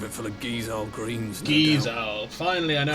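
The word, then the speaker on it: Gysahl: Gizowl. Finally I know how to pronounce it. I know him. Gizall greens.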